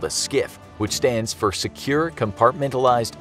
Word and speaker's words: SCIF: Number Eight: The SCIF (pronounced SKIFF) Going along the lines of secure information, onboard every carrier is what is called a SCIF which stands for Secure Compartmentalized Information Space.